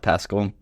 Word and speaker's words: Pascal: Pascal, moved from rural southeastern Ohio to urban Boston, and they absolutely love it here in this busy, fascinating, fun city.